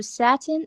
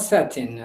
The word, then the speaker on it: Satan: It is Satan, not satin, right? Satin is a kind of cloth.